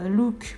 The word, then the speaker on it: Luke: enfin voilà c'était impressionnant qui ressemble un prénom français alors je le prononcer à la française maintenant je vais dire look parce que je me suis habitué à l'entendre comme ça et parce que je pense que c'est la prononciation qu'il faut donc look il j'ai